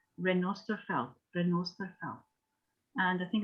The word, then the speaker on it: Renosterveld: felt it felt used in crafting so it's renosterfelt renault and i think it's important that people